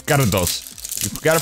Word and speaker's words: Gyarados: It's Gyarados. You've got to pronounce it that way. You got to roll the tongue. Gyarados.